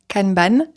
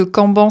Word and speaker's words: Kanban: Je sais pas vraiment comment le prononcer en français. Je pense que canan c'est pas la bonne prononciation mais canban, ça me paraît un peu bizarre aussi. Bref, on va dire canban.